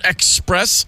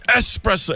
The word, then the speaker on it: espresso: character goes you mean like the Cross Town express it's espresso and he yells at her for mispronouncing espresso and I was like so shamed